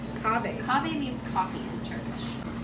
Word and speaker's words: Kahve: And how do you pronounce it? Kahve. Kahve.